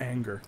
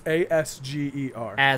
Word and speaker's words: Asger: It's, I believe, Asker Willie Jorgensen, not Anger. Wait, what'd you say? Okay. It's Asger. Is the Asger. first name. Asger.